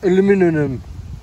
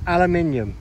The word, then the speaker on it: aluminium: a bit of scrap aluminum oh how the americans say aluminum it's aluminium aluminum it's aluminium right let's crack on that